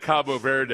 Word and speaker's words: Cabo Verde: Cape Ver pronounce it Cabo Verde for the for you Anglo.